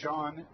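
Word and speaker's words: Chone: fastball up and in sean is spelt c-h-o-n-e but it's pronounced shawn figgins piggins went to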